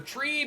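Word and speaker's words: Tribbie: uh associated with but or treey that's how you say her name tree yes she referenced all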